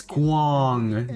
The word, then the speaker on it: Guang: It is Guang. Dang, I second guessed myself. Dang, I got the pronunciation actually correct on my first try.